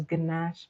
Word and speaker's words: ganache: So ganache is spelled Gnache.